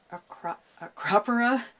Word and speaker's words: Acropora: So, how do you pronounce this again? Acropora.